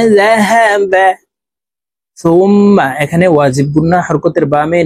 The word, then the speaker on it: ثم: তো এখানে দেখুন, এই যে হরকতের বামে মিমের উপরে তাসদীদ আছে, তো এই সা হরফ তাসদীদ ওয়ালা মিমের সাথে নাকের বাসি থেকে গুন্নাহ করে পড়ব, এভাবে পড়তে হবে।